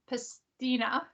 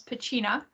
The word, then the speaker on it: Piscina: First of all, I had to say Thomas Piscina instead of Thomas Pacina, as I know him as. So they got the pronunciations from the individual versus how they would be known in North America.